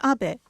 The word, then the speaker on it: Abe: House my name is Abbot but in the United States some people mistakenly pronounce my name is ape but that is not